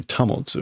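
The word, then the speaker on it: 保つ: Motte, there is, that's not the normal pronunciation. That's normally tamotsu, right?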